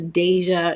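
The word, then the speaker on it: Dajua: it's so funny um she pronounces it Deja but it's spelled D A J UA I don't know I wouldn't have pronounced that Deja but she she pronounced it as Deja on the show Deja Blanding um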